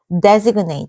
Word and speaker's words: designate: 이거 무슨 designate 아니다. 이거 발음 잘해. designate. 뭐라고? 이 발음을 내로 해줘야 돼. designate. 이렇게 해주셔야 돼요.